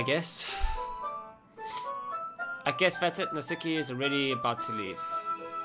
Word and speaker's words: Natsuki: Did I keep saying Natsaki? Sorry. I guess that's the Afrikaner in me. Natsuki.